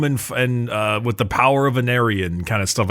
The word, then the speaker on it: Aenarion: too at the end, like How do you pronounce his name again? Aenarion.